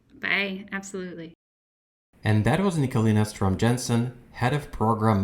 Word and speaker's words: Nicoline: my work email is just my first name nicolina of course the challenge is it's it's spelled with an e at the end instead of an a um but yeah nicolina